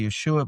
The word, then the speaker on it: Yeshua: And I say Yeshua because that's the correct way to say the name that Jesus is an Anglican um bastardization of a Latin bad translation which was a bad translation of a Greek bad translation of an Aramaic name.